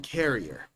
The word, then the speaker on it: carrier: Career and carrier. As you see, they are written in different ways, but they're also pronounced in different ways. Career. Carrier. And as you see, the pronunciation is different.